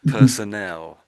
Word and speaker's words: personnel: Personnel. Personnel. So to my mind it's got this sort of nel. I'm saying nel on the end. It sounds like nel.